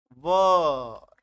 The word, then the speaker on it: were: इसका इस्तेमाल करेंगे और इसका उच्चारण देख लो भाई साहब, वर, ऐसा इस्तेमाल करेंगे। ठीक है, वर वधु वाला वर, है ना, लोग इसको वेयर कर पढ़ते हैं, बहुत सारे लोग वेयर, बहुत ही गलत उच्चारण है, मत करना, लोग हंसेंगे, पागल कहेंगे।